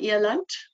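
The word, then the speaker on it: eland: an it's called an eant um which is spelled e l and D um comes from an afan's pronunciation where D is pronounced almost as a t um and these are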